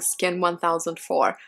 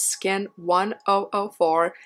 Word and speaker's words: SKIN1004: videos of me saying skin 1004 that is not right it is skin 1004 and when you say it like that it sounds like skin angel in Korean then that is the